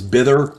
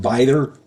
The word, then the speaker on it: Bither: I said it was Bither, and it's not. It's pronounced Bither.